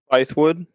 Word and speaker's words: Bythewood: How do you pronounce that last name, Mark? Bythewood.